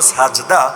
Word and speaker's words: সাজদা: অথচ আরে জিজ্ঞাসা করেন সেজদা এটা কোন ভাষার শব্দ? বলতে তো পারবে না মূর্খ, তাও যদি বেশি পারে তাহলে বলবে এটা আরবি শব্দ, যদিও মূল উচ্চারণ হলো সাজদা, বাংলায় এসে হয়ে গেছে সেজদা।